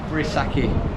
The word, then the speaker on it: Vrissaki: Now, how would you pronounce it? Vrissaki.